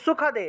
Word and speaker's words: সুখদে: ঠিক আছে, দন্তস্বর উচ্চারণ হলো স, তাহলে সুখদে, সুখদে। ঠিক আছে, সুখদে উচ্চারণ করবেন।